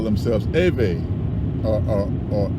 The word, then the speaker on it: Ewe: you know that there's a tribe called the a way ewe these people pronounce theirs eve but what we know